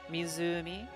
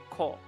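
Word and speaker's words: 湖: um in Japanese um you'll have two different pronunciations one for like the generic like mizumi for a generic lake but if the kanji is is attached to a name then it becomes cole and usually goes at the end.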